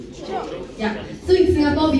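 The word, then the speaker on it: chope: Choke. Choke.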